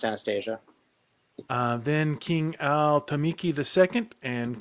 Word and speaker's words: Anastasia: Yeah, normally pronounced Anastasia.